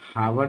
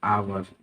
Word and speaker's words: hour: और ये हावर्ड नहीं पढ़ते हैं, इसको HOUR हावर्ड नहीं पढ़ते हैं, इसको पढ़ते हैं आवर, आओ, और आवर का मतलब हुआ, यहाँ पे भी हम एच साइलेंट होता है, एन का प्रयोग करते हैं।